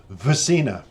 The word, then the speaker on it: SVRCINA: It's SVRCINA, and you would pronounce it with the S and the V, but it's a Swedish pronunciation, and they pronounce it SVRCINA, which I think is absolutely stunning.